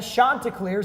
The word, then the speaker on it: Chanticleers: 4, back in action, visiting the Coastal Carolina Chanticleers, that's how you pronounce it, by the way.